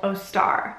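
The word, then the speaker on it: Eostre: And one of the deities that was celebrated at this time of year was called Ostara, and that's spelled E-O-S-T-R-E. And Ostara was a Northern European goddess of fertility.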